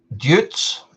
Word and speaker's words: Deutz: this into I don't Jutes. Is it Jutes? Jutes? Peppy, you might be able to help me with this. How do you pronounce? Let me tell you. DEUTZFAHR. Anybody know? Joits. Yes, that's it.